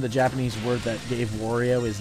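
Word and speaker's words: 悪い: Japanese word that gave Wario his name, and he starts calling it Wario. It's Wari, the Japanese word for bad or evil. And then he starts calling him so Wari and Mario Wario.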